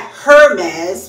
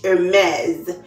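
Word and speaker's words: Hermès: Not Hermes with the H, Hermes.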